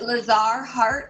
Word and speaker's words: Lazar: Is it Lazar? Am I pronouncing that correct? Yep. You're pronouncing it perfectly.